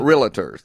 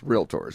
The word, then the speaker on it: Realtors: not a billiter and we're not Realtors it's Realtors just two syllables don't don't overthink it